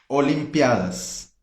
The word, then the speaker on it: Olimpiadas: Mas tudo bem, porque em espanhol é Olimpiadas, ok?